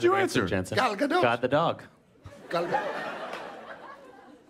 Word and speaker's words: Gal Gadot: God the dog. God the dog. How do you say it? Gal Gadot.